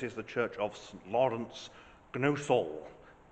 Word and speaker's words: Gnosall: the church of lawrence gnosol pronounced no soul but one likes to give these silent letters their due it's as you can